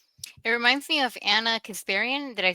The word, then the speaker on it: Kasparian: It reminds me of Anna Kasparian.